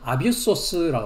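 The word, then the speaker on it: ἄβυσσος: 그래서 발음은 아비소스라고 합니다.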